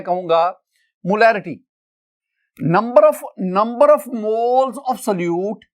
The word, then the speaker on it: molarity: My dear student, अगर आप मोलैरिटी और मोलैलिटी दोनों के स्पेलिंग्स देखें ना तो देखिए MOLARITY मोलैरिटी, और इधर आप देखेंगे MOLALITY मोलैलिटी। एक में R है मोलैरिटी, एक में L है मोलैलिटी, बाकी लेटर्स दोनों में सेम है।